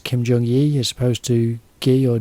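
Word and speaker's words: Kim Jung Gi: Jong Yi which is Kim j-u-n-g and then GI that's how you say his name is Kim jong-ye you're supposed to ghee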